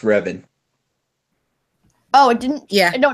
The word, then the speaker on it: Revan: group by the way my second name is pronounced ribbon oh it didn't yeah